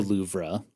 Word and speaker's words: Louvre: I went to the loua and I saw you don't have to keep pronouncing the r I'm having fun with